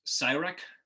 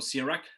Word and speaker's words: Sirach: it the septuagint uh jesus cyrek or sirach there's many ways to pronounce it and in an introduction